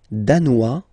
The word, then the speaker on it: danois: Le Danemark, danois, danoise. Okay, insist on that. Danois, don't pronounce the final S.